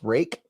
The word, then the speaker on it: Reich: Reich pronounced Rake.